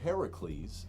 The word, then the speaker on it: Heracles: Hercules Hercules Hercules hurt Hercules or Heracles as as he's properly pronounced and isn't really our